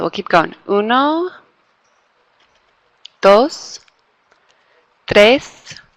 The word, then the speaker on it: tres: Uno, dos, tres. You can roll that R if you can do it.